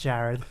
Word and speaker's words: Jarrod: So some people pronounce it as Jared or Jared or Jared. J-R-R-Rod. Or Jarrod. It's just Jared.